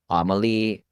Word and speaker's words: AMLI: A good example of these Class A luxury properties as rentals, if you've heard of a publicly traded company, Amelie, I think it's spelled AMLI.